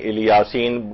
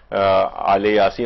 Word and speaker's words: آل یاسین: سلام علی آل یاسین، عام طور پر اس کو جو تلفظ کیا جاتا ہے کہیں الیاسین کچھ لوگ کہتے ہیں، لیکن مختلف جگہوں پہ قاریان جو ہیں وہ آل یاسین، اور روایات کے اندر